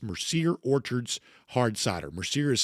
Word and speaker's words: Mercier: Tell me more about Mercier Orchards Hard Cider.